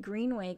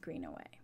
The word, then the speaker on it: Greenaway: I'm sorry, I was saying her name wrong. Kate Greenaway.